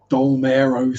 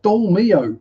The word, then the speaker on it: Dolmio: But then I've heard people in UK shops asking for tortillas, queer sad dillas, dolmero sauce. Where do you get that from? It's dolmio. It's easy.